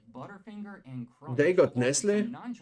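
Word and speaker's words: Nestlé: They got Nestle. Chocolate candies. Yeah, I'm saying Nestle because you know there's the A. So it's not Nestle, it's Nestle. And you are not pronouncing the T.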